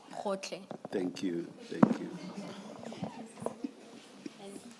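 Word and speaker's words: Gotlhe: Can someone who is Sotho Tswana speaking please pronounce that for us? Ta Advocate Powe. It's Hotle. Hotle.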